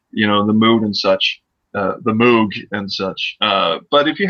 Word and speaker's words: Moog: Actually, it's pronounced Moog.